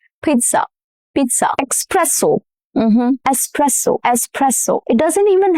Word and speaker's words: espresso: He needs an espresso shot every morning. Espresso. No X sound at all. The S stays intact and the stress falls on the second syllable, which is press.